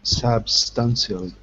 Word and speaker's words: substantially: deal substantially substantially okay be careful the pronunciation sub substantially good all right and also don't forget at the very end you have the sh sound substan so be careful because the sh is only at the end say